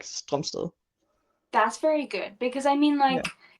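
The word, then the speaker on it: Strømsted: like with the Danish complete Mm-hmm. pronunciation, it's Noah Stromsted. Strumst. Okay. Yeah, I feel because like it has like the O with the line in it, yeah. like the Danish letter.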